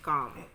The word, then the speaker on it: calm: Here you can see the word letter L is silent and calm.